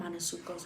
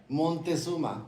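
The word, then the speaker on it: Montezuma: He got Manosuko's revenge. Please stop saying that. How do you say it? Monteuma.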